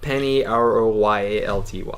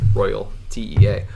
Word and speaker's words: Penny Royalty: Yeah, actually, it's spelled different. It's Penny Royalty, like a king. You son of a bitch. So it's like Penny Royalty, not Royal TEA.